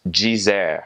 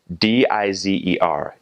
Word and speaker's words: dizer: Or the word for to say is dizer, spelled D-I-Z-E-R, dizer.